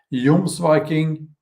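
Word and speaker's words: Jomsviking: it's the Young's Viking feels strange saying that in with an English pronunciation Yum's Viking um the series you know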